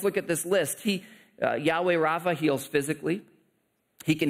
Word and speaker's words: Yahweh: the Lord who heals you it's the name Yahweh or some people pronounce it Jehovah Rafa Yahweh or Jehovah meaning the Lord Rafa